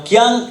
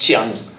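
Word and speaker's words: Jiang: Now, Kyang is actually pronounced Chiang.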